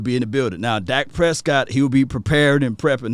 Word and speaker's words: Dak Prescott: from rain dakota prescott i said his name wrong elite dak prescott that's how you got to say his name elite dak prescott we